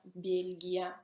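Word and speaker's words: Бельгия: Belgio, Belgia, in russo si pronuncia Belgia, con mehki znak si scrive.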